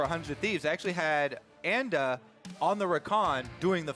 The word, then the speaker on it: Anda: Actually, he also gave a little anecdote on how to say the name. He says Anda because his name is Andy. Because his name is Andy. So I'm going to try and stick to that, even though so so many people have taken the kind of like high road pronunciation of Anda, which sounds very pretentious.